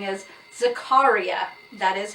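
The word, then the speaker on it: Zakariyya: egg apparently the spelling of pronounce sorry the pronunciation for this spelling is Zakaria that is how this man said to pronounce his name Zakaria now acharya and debra were probably the closest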